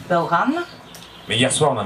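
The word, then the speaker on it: bodhrán: je pense au bauran qui s'écrit Baudran mais qui se prononce en gaque bauran mais hier soir on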